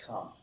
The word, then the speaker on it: come: Now you say, you come to this one, you say, this one is an exception. We pronounce this come. He says, why? We don't know. It's just come, that's all.